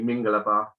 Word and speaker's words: Mingalaba: So I've launched the company Mingalaba, emphasis on the first syllable, and it's basically just a greeting in Burmese.